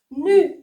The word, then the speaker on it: nu: Nu. Nu. Nu. Nu. Non, c'est pas ne, c'est nu. U.